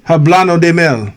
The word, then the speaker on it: Hablando de Mel: Did I say it right? Say it again. Hablando de Mel. Yes. Yeah.